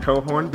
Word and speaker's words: Cochran: prayer this is Emily cohorn and you're probably seen her name pop up on the screen and no I did say it right it is pronounced cohorn spelled Cochran but we are so